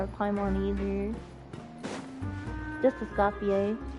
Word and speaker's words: Escoffier: Just a Scopier. Like you at first think it's like a scafier, but it's not. The R is silent, so it's fier.